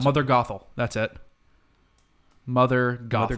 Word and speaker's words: Gothel: Is that how you Gothel, pronounce it? Mother Gothel.